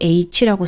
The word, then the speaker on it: H: 영어식으로 h라고 쓰고 독일어로는 하라고 읽습니다.